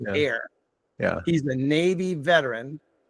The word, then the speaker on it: Ehr: Last name is EHR, pronounced Air.